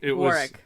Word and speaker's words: Warwick: it's Warwick Davis B Warick yes oh yes he gave instructions don't pronounce the w r arck no the